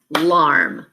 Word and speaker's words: alarm: alarm now clap the syllables uh alarm that first sound up is your schwa sound so it's a syllable by itself that a is acting